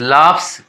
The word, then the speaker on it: laughs: LAUGHS लाफ्स, यहाँ GH का V होता है प्रोनाउंसिएशन फ, LAUGHS लाफ्स, GH का प्रोनाउंसिएशन फ हो गया, PH का प्रोनाउंसिएशन यहाँ